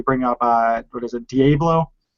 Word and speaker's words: Diabobolo: Like it's funny though that you bring up what is it, Diabolo? How do you pronounce it? Diabobolo.